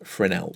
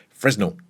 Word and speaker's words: Fresnel: one of the settings you have is frenel or if you feel like pronouncing it this way fresnel in here you really